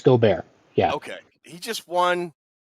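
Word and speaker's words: Gobert: for Rudy goar and is that how you pronounce his name or is it go I believe I believe it's goar yeah okay he just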